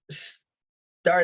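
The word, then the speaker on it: Xxtar: letter X makes and it basically sounds a lot like an S so the company is called star Associates okay now the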